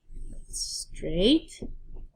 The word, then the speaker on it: straight: Why it's tricky is because if you just listen to the sound, it's going to sound like straight. But there's that GH in there that makes it tricky. You can't hear.